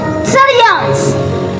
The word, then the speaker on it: therians: cavidad y tiene que ver con los llamados sarians, porque es así como se pronuncia, sians o teria.